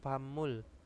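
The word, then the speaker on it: 밥물: Terus di sini ada apa? Bab yaitu bacanya pamul ya, pamul itu adalah air nasi atau air tajin juga bisa ya.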